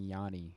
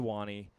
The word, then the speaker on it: Wani: So I kept saying it wrong for half the voyage. I was saying Yanni, and then it took me half the voyage.